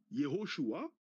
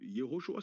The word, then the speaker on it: Yoshua: Yoshua. C'est comme ça que ça se prononce en hébreu. Yoshua c'est Josué. C'est comme ça que ça se prononce Yoshua.